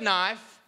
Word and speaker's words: knife: I think the word knife is scary in itself, because the K is silent and it's concealing a knife.